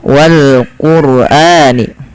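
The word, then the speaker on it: والقرآن: sini lafal Wal Quran rnya dibaca dengan tebal ya Wal Qurani Karen apa Kenapa dibaca dengan tebal tidak dibaca Wal Quran tapi Wal Qurani karena ada huruf sukun yang didaki dengan huruf damah maka ia wajib dibaca dengan bacaan tebal teman-teman ya salah satunya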